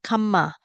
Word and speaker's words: kamma: are two meaning here karma is sanskrit so in Sanskrit is always more difficult to pronounce so R and M become mm Kama Pali is a very